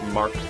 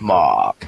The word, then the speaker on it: Mahk: So properly pronounced it's you know pronounced in your Arnold Schwarzenegger accent Mark. Okay, Mark.